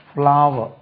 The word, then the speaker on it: flour: பாருங்க, ரெண்டுக்குமே ஒரே உச்சரிப்போம். ஃப்ளாவ், ஃப்ளாவர், ஃப்ளாவர்.